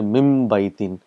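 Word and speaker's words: مِنْ بَيْتٍ: You say mim baytin. So mim and ba is pronounced together.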